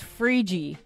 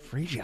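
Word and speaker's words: Phryge: that's how it's spelled it's pronounced frii frii I don't even know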